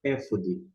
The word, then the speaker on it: אֵפוֹד: algo como ficou eh correspondente em algumas versões efod embora como eu disse a pronúncia aqui no hebraico e fod e f